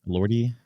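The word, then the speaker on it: Elordi: Uh Jacob Lordi. How do you say his last name? Lordy. Lordy. Lordy.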